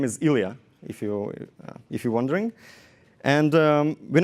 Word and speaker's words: Ilya: And his name was the same name as mine, the name that no local people can really pronounce. The name is Ilya, if you're wondering.